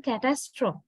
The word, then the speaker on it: catastrophe: word is changing now first word pronunciation catastrophe can test strong actually we give a heaviness right this sound the syllable the second syllable is quite strong catastrophe we said but this is